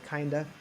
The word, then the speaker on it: kinda: Or if you want to take that of off, you just say kinda. I kinda want to go, but I'm tired.